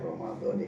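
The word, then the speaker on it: رمضانِ: Nawaitu untuk masalah pelafalan yang benar secara grammarnya atau tata bahasanya, secara nahwunya itu adalah Ramadhani karena dimudhofkan. Kalau seandainya bukan fathah tapi ditandai kasrah Ramadhani.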